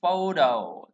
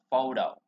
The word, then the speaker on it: photo: phờ nhẹ ra đây, chúng ta là âm nhấn đầu tiên, danh từ hay âm tiết thì nó sẽ được nhấn âm đầu tiên, thường là như vậy.